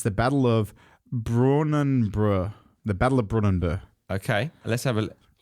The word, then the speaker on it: Brunanburh: It's the Battle of Brunanburh. The Battle of Brunanburh. Okay, let's have a... That sounds better. That sounds like it. Brunanburh.